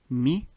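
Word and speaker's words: مئة: But this is how it is written currently. Ma'a. However, it is pronounced as such. Mi'a.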